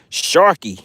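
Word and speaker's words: Shrk: you pronounce that name is it Shrek s HR K Shrek we're going to see if we can get another one to the boat guys Sharky it is Sharky all right we have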